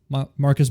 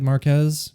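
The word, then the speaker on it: Marques: Um we've even had uh people like, let's see here, MKB uh BHDs, you know, Marcus Brownley, I believe is how you say it. Marquez.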